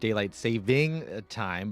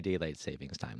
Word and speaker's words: Daylight Saving Time: And just a reminder, it is actually pronounced Daylight Saving Time, but that's how, I guess, a lot of people do say Daylight Savings Time, though.